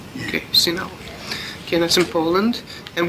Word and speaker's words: Sieniawa: How would I spell it? S-H? Sieniawa, they say in Polish.